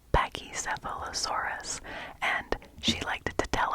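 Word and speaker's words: Pachycephalosaurus: it was very funny how many syllables are there in pachy sealosaurus pachy sealosaurus it's a dinosaur it's a dinosaur py sephos aurus yes there are seven seven seven seven syllables in paky sealosaurus and she liked to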